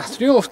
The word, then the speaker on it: Triumph: Kochani, tak wygląda Triumph Tiger Sport 660. Dokładnie tak się wymawia tą nazwę, a nie tak u mnie, tak odwrócili Anglicy.